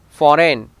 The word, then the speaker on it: foreign: Now letter G, not pronounced if it is come before an N. Align, sign, campaign, design, foreign, consignment.